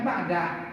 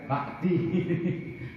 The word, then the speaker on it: ba'da: Dibacanya ba'da, enggak boleh ba'di.